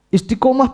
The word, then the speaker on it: istiqomah: Istiqomah pasti berat. Karena dari pelafatannya aja sudah berat. Kalau kita mau membaca istiqomah dengan benar, bacanya pakai qalqalah. Istiqomah. Bacanya sudah berat.